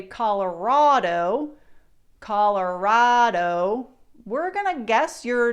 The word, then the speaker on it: Colorado: But how do we locals say Colorado? If you've watched enough of my videos, you may have picked it up. It's Colorado, Rado.